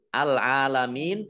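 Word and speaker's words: العالمين: Al-alamin, alif lamnya alif lam komariah, ditandai dengan lamnya dibaca sukun. Ain fathah berdiri mat tobi'i, panjang 2 harokat. Mim kasroh ya sukun mat tobi'i, tetapi karena bertemu dengan huruf terakhir yang dibaca sukun karena waqaf, maka menjadi mat arid lis sukun. Mat arid lis sukun dibaca panjang, boleh 2 harokat, 4 harokat, atau 6 harokat.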